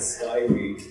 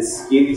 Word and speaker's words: Skyrie: Who's been pronouncing it Skyrie? It's Skyrie.